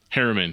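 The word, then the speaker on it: Herriman: And is it pronounced Harriman? Harriman, yep.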